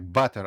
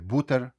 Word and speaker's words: butter: Ну і літера у закритому складі буде в нас вимовлятися по більший час як а звук а. Тому ви butter масло прочитаєте як butter, а не бутер.